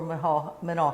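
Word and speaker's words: Menaul: And after a while, I taught at Manal High School in Albuquerque, New Mexico, another Presbyterian boarding school, and that's where I met Jane.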